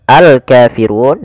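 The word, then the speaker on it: الكافرون: Qul Ya ayyuhal Kafirun Kemudian pada lafal alkafirun di sini ada alif lam qamariah yaitu alif lam yang ditulis alif lam yang ditulis dan dibaca lamnya dengan jelas maka dia namanya alif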